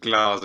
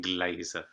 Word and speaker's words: Glasser: name is glasser um pronounced glasses rather than glazer um yeah everybody reads